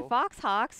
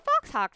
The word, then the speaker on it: faux hawk: call this faux hawk it's a faux hawk it's a fox hawk too like a mohawk it rhymes with mohawk yeah they call it